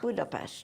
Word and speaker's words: Budapest: they say that God Budapest budapes yes a little sh in it yes is pronounced sh